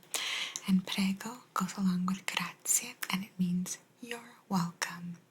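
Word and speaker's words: grazie: gra while you're traveling it's not graat it's gra gra a lot of the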